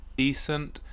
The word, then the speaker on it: decent: which is very similar almost a homophone but slightly different stress on on the syllable decent something which is reasonably